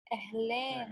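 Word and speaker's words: أهلاً: Ahlan. أهلين. Yes, stretch the N.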